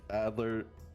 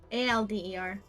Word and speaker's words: Alder: Adler nymphia cinear Evergreen I might have butchered how to say how Char Charlie Hemlock Adler aler a d e r Al d e r Alder mm all right Adler Alder Alder nymphia cinear Evergreen AKA